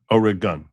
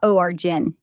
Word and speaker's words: Oregon: It's like gun with a hard O. Orig, not Jen. O rig gun. Gun. Orig gun. Yeah, that's it. O rig gun, not ogen.